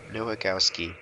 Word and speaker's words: Nowakowski: Nowakowski.